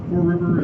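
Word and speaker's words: Fore River: just pulled out into the poor river that is spelled f-o-r-e four river is a brackish body of water right here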